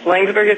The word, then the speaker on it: Laingsburg: an optometrist from uh lburg Michigan did I pronounce that right Dr Brendan yes lburg is correct okay where where in in relation